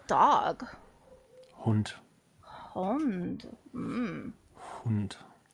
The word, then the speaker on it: Hund: Hund. Hund. Hund. Not Hund? Hund. Hund. Excuse me. You knew that one. Smart That one's detection. important. And the entire phrase would be, kann ich Ihren Hund streicheln?